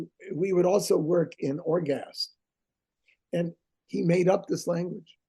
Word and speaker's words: Orgast: And also, Ted wrote out syllables, words that he was making. He made up a language called Orgast. Okay. O-R-G-A-S-T, Orgast.